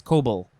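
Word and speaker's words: coble: looked like an i so it's uh it's cobal noun from the 14th century a flat bottomed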